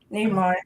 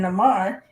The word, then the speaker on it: Namor: how in the movie they say it both the ways, Neymar and Namar, because people, different people pronounce things differently, and some people pronounce it wrong.